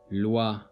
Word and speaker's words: loi: in this word the OI is pronounced as WA. Loi.